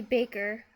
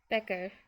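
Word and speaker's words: bæger: It's supposed to be baker but I said becker like with the s sound which was wrong.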